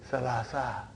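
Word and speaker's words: ثلاثة: So that is why you have salasatun. But in pronunciation we will say salasa.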